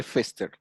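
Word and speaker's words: Foerster: Se escribe Fester, Foester, pero se lee Fester.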